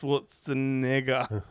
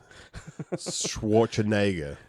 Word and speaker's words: Schwarzenegger: Because uh Tik Tok doesn't like it when you mis mispronounce Schwartzenega. Schwarzenegger.